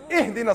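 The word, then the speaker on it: اهدنا: You better not say, ahdina sirat al-mustaqim, otherwise I'm going to pound you. It's ihdina sirat al-mustaqim. Read it right.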